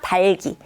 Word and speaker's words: 닭이: 닭이가 아니라 달기. 이렇게 받침의 발음.